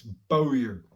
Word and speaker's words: Bowyer: The pronunciation of my last name. It's Bowyer. That's why I say my name in a lot of my videos, so that people will know how it's pronounced.